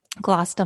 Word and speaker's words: Gloucester: i agree how should we say that's where it rhymes gloss da monster gloss demasta oh yeah end sound and